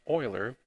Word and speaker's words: Euler: We also define what we call Euler path. Yes, the pronunciation here is a little different. It's pronounced Euler. Euler path is a path in a multigraph that